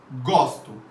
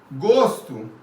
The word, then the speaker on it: gosto: Gosto, ó aberto. Gosto não se discute. Olha a diferença, gente. Aqui tem um som aberto, gosto. Aqui um O fechado, gosto.